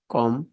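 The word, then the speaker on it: comb: Right এখানে ডব silent কম এখানে be silent listen এখানে টি সাইলেন্ট অনেস্ট এখানে এই সাইলেন্ট যাই হোক এই পাঁচটি নিয়ম মনে রাখলেই আপনারা প্রনাউন্সিয়েশন অনেক ভালো করতে পারবেন।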